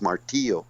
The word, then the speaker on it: Martillo: same thing in Tagalog but I think it's martillo or something like that martillo martio yeah martio that's what it is and that's not the way you pronounce it in Spanish it's martio in Spanish martio it's spelled exactly the same way I think m